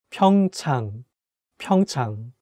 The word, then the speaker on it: 평창: 평창 (pyeongchang) “PyeongChang” Okay, the first one is 평창 (pyeongchang), 평 (pyeong) 창 (chang) which means “PyeongChang”.